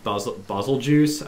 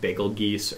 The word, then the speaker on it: Bazelgeuse: And in particular, this monster, Bazelgeuse, I think is how you're supposed to pronounce his name, although everybody calls him like Bagel Geese or something like that.